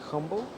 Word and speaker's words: Humble: So Isn't it humble? it's Humble. I think it's Humble. I think the H is silent.